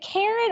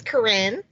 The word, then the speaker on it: Corinne: Is it Karen or Corinne? It's Corinne. Corinne.